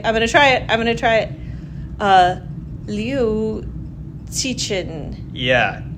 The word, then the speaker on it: Liu Cixin: Right now we're talking about the three-body problem by, I'm going to try it, Liu Cixin. Yeah. How do you say it? I would say Liu Cixin. Liu Cixin.